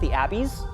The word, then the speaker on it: The Abyss: Okay, have you ever seen The Abyss? I have never seen The Abyss. Well, first thing to know is that it's actually pronounced The Abbeys.